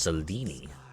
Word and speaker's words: Selene: Her name is pronounced Selene.